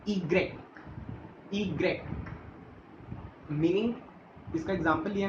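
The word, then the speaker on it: i grec: इसकी सबसे अलग प्रोनाउंसिएशन होती है, जिसे हम बोलते हैं ईग्रेक, ईग्रेक, मीनिंग इसका एग्जाम्पल लिया हमने युक्स, युक्स।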